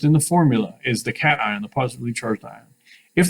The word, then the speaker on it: cation: of a plus sign please don't pronounce this word casion unless you're from louisiana cation the t reminds you